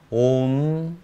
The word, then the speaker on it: 옴: 먼저 모든 만트라의 에센스이자 가장 근본적인 것이라 하는 아움이라는 씨앗 만트라를 볼까요? 옴 또는 아움으로 발음하는데요.